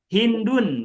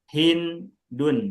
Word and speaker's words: Hindun: Ada hindun misalnya. Nama cewek hindun, ha nun sama dal tiga huruf tuh maka ditanwin hindun bukan hindu.